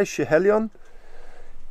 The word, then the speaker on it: Schiehallion: But having talked to John, the owner, and asking him why he named it Schiehallion, that's how you say it, by the way, Schiehallion, he explained the whole thing to me.